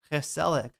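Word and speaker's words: gezellig: It's so hard to pronounce the G in the Dutch language. Haselic.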